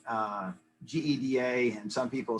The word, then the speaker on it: GEDA: of years ago and we asked how you pronounce the name and probably 80 percent of the people said geda but you'll hear gita uh gita all kind of different things yes and another thing